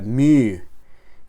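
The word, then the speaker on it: μῦ: Ahora bien, en algunos libros de gramática griega enseñan que mu, el nombre de esa letra, se debe pronunciar con una U francesa, mu, incluso mi, de esta manera.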